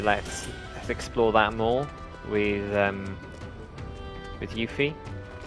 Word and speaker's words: Yuffie: We're not gonna have to worry about going round for things all the time with Yuffie. I said it right that time. Didn't say Loopy that time.